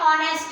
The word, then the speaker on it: honest: उससे स्टार्ट होती हैं, लेकिन उसमें जो उसके साउंड निकलता है, जो साउंड निकलता है वो हमारा निकलता है एक वॉवेल की तरह, यानी कि ऑनेस्ट ले लीजिए। तो इसकी स्पेलिंग होती है HONEST, यानी कि जो H है वो हमारा कॉन्सोनेंट है, लेकिन जो यहाँ पर